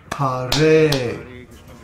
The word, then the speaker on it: Hare: For example, Ha in Hare is a short syllable, but the Re is a long syllable because the vowel is A. So the word Hare is pronounced Hare. I'll do that again. In other words, it's 3 padas long.